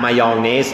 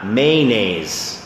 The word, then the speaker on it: mayonnaise: cunt นะแปลว่าขอหีบสระอีนะครับดังนั้นเราต้องลากยาวนะครับ can't นะฮะไม่อยากให้คุณพูดคำนั้นนะฮะอันนั้นคือสั้นกว่านะครับนะฮะดังนั้นต้องระวังหน่อยครับโอเค alright มีคนถามคำว่านี่ครับคำว่า mayonnaise นะฮะ mayonnaise ออกเสียงว่า mayonnaise แค่สามพยางก็ได้ mayonnaise mayonnaise สองพยางก็ได้นะครับ mayonnaise mayonnaise บางคนออกเสียงว่า mayonnaise